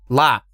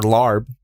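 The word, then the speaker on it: laab: got some i got some laugh or larb as you non thais pronounce it salmon very good all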